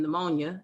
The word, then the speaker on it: pneumonia: brady is slow nia the p is silent like in pneumonia nia is breathing and